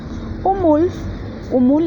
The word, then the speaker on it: Umul: Umul es conejo. La L al final suena como F.